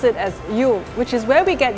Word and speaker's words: Yule: this word in the Old English we now pronounce it as u which is where we get the name you